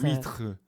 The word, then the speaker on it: huîtres: Can't Well, pronounce it in oysters. French. Les huîtres. Huîtres.